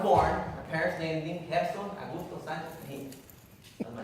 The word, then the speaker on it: Gerson: And when I was going to school, I remember my dad telling me, you have to pronounce your name Gerson. And I'm like, what is it Gerson? Yeah, that's how Americans say it.